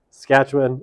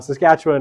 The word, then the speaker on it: Saskatchewan: of Canadian provinces is the highest right in Saskatchewan I've been there I know how to pronounce it um Saskatchewan right has relatively cheap housing by Canadian standards